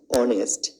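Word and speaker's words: honest: উদাহরণে উদয় অনেস্ট বয় এটা হনেস্ট না এটা অনেস্ট এখানে ও উচ্চারিত হয়েছে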